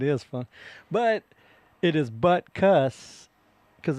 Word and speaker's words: Butkus: But it is buttcuss cuz it's a U. It's not actually an I, right? Like a buttkiss.